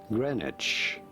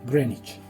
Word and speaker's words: Greenwich: Greenwich. Pero se escribe, Greenwich.